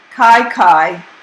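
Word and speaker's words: kaikai: native words and translations kai kai pronounced k-y-k-y for food mary when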